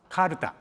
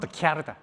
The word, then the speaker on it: CalTA: We refer to our company as CalTA, pronounced CalTA, not CalTA, because we Japanese call CA as Ka, not Kya.